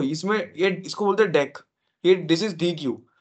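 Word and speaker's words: deque: एक होता हैके पास डेक उसको डी क बोलते हैं बट इट्स नॉट डी क इट्स डेक ठीक है डी उसका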